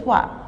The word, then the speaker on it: toit: Bouli est sur le toit. Il est debout. Il travaille. Bouli. OU se prononce OU. est sur le toit. OI se prononce wa et le T ne se prononce pas.